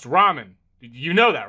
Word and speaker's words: ramen: Door Dash is on its way to deliver some Raymond, and I don't want to spill any around the pyramid floors. Uh, it it's pronounced ramen.